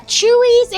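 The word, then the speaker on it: Chuy's: I don't care uh chewy it's uh Mexican it's spelled c huy uh it's like TexMex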